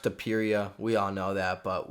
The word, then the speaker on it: Topuria: And you guys all know from the last video, it's pronounced Topuria.